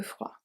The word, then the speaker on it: froid: À faire un peu froid. Faire, we don't say faire, faire. Un peu froid, the D is silent.